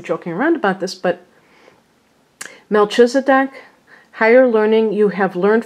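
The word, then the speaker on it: Melchizedek: the deck okay they I'm glad they have the phonetical they have it spelled out like that so we can now know how to pronounce it correctly Melchisedec are now I'm saying Melchisedec is a high priest who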